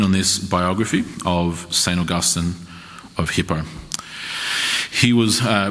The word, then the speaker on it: Augustine: Augustine and it's pronounced Augustine the the uh kind of some Modern Americans pronounce it Augustine with the emphasis on the end but it is certainly pronounced Augustine so you'll hear me